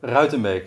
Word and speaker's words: Ruitenbeek: Ruitenbeek in European. Try it. Rotebig, and he's a director.